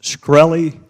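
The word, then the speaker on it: Shkreli: Is it pronounced Skrelly? Yes, sir.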